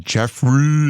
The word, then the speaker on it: Jeffry: As I saw last night that Jeffry Knight, that's how you say his name. There's no R-E-Y, it's R-Y, Jeffry Knight.